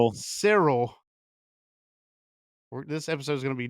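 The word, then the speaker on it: Syril: We've already kind of been over that and kind of his role with Civil or Sel. God, I did it again. Sirill.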